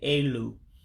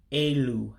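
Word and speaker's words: elu: And remember, when you're pronouncing some of the Igbo letters, that letter that looks like an E to you in English, you pronounce it as an A. So that's why I'm saying A-Lue for high.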